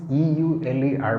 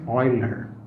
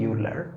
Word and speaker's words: Euler: and prolific mathematician although the the spelling is e-u-l-e-r but it's pronounced euler okay not euler many people wrongly say euler but that is incorrect it's euler and the